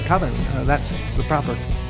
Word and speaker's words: Coven: It's pronounced Coven, man. What else could it be pronounced? Coven. That's the proper pronunciation. No. Coven. No. Coven sounds like oven, man, and that's just, it doesn't work.